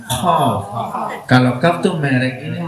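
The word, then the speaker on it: قاف: Bacanya bukan Kaf, Qaf.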